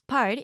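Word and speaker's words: ぱ: ha with a handakuten is pronounced pa.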